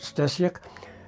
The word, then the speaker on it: Steciuk: it's story my name is uh stuk uh pronounced you could pronounce it Stak uh and I was